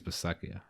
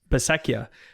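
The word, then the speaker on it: Bisaccia: in on rich basset how do you say his name besetjia the ra the raiders in term right i think it's beseckia i think besecchia yeah rich bisekia as their next special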